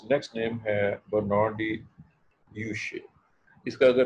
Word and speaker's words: Jussieu: یہ میرے حساب سے تلفظ یوشے ہونا چاہیے, عبرانی زبان کا نام